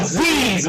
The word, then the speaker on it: Zyzz: It's not Zyzz, it's f***ing Zyzz, man!